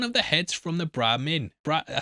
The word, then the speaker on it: Brahmin: the heads from the Brahmin. I said it right that time! Also, mate, I'm still getting shit for misspeaking that in episode 2 and saying Brahim, and I'm like, what the fuck, mate?